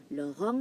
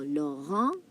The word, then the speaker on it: Laurent: Now, Laurent, the T here is silent. Now, in English, Laurent is Lauren. But in French, en, when E, the letter E meets N, it becomes on. That's why you have Laurent.